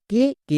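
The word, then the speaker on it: cake: Next কে, কে এর জন্য কো, এবং শেষের ই সাইলেন্ট, তাহলে কি হলো সি এ কে ই, কেক। এখানে এ ভিসিবি রুলে আছে তাই এর লং সাউন্ড হচ্ছে লং সাউন্ড একার।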